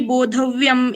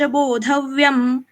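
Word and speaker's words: बोधव्यम्: आगे आप देखिए ग है, फिर भी बोधव्यम, इस अनुस्वार का उच्चारण मैंने म क्यों किया? क्योंकि 8th लेटर है, यहाँ पे रुक रहे हम, इसलिए आगे कुछ भी हो यहाँ पे अनुस्वार का उच्चारण म जैसे होगा।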